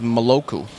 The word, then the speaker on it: maloku: But he said cheers in Vanuatu is pronounced maloku.